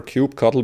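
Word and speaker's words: kubectl: instance in this case how do you pronounce cube cut' well there's lots of different pronunciations there's certainly no canonical way to pronounce it personally I prefer cube cuddle but you may have already noticed that I end up switching how I pronounce it a lot of time how does this client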